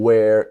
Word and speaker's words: where: Because this part, your jaw, this name is the jaw, comes down. Where.